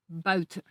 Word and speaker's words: buiten: discussed earlier, there is also the UI diphthong, which is pronounced like this, ui, ui. For instance, the sound is found in the words for out, uit, and the word for outside, buiten.